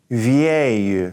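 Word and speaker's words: vieille: work and it's va va you so that I at the beginning gives us a ye sound VA you alright now at the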